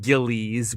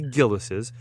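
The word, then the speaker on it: Gilles: Everyone there pronounces it Gillies, but it's actually Gillis's.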